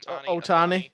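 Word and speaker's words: Ohtani: rather see shui oani is that how to pronounce his last name Otani yeah oh ton show I ra I would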